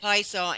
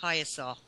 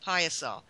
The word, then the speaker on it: Piasa: I keep calling it Piasa, and it's actually pronounced Piasa.